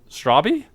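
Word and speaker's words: Straube: Straubby? Yep, I found that out when we hung out. No way. You pronounce the E at the end of his name.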